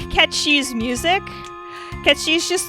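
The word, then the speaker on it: Cait Sith: I promise you, it's Irish, and I promise you it is pronounced Ketchi.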